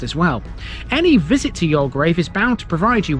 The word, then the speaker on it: Youlgreave: This one is the largest of the bunch and its name is Yolgrave and yes, that is how you pronounce it.